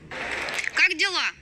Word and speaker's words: Как дела: And it's pronounced. Как дела? All right, now the letter K in Russian is fortunately just like our letter K.